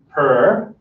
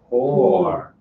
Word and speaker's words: poor: Because this is a word, purr. No, no, that's no. That's the sound that a cat makes, or any cat-like creature. Purr. Purr. Poor.